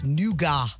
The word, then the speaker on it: nougat: N u n o u g- a t. Nougat. Nougat. It's not. It's nuga. Nuga. Nuga.